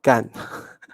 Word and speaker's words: 干: the second one oh sorry that should be gun okay that's four stones and that is the